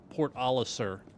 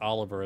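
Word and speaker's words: Port Olisar: I could never pronounce Port aliser not Oliver as I like to say did they just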